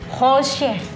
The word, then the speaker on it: Holscher: Holzer, tapi ini Holzer. itu kan fam gue Jerman. Ya, Jadi deh, sebenarnya lalu- kalau bacanya itu tuh sebenarnya Holsche.